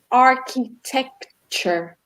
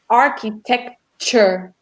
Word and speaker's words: architecture: When we look at the word at the end, that or the letters at the end of the word TURE, it's got a sound like structure. So pronounce it with us. Architecture. Architecture. Yes. Like Emily's put there, the TURE, it makes more of a ch.